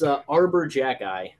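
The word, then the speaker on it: Arber Xhekaj: Nate, would you like to hit us with the pronunciation again? So, yes. So, it's Arbor Jagi.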